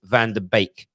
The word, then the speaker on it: van de Beek: who said it is van der beek a lot of people see it keep saying it's pronounced bake like wake up you're talking about van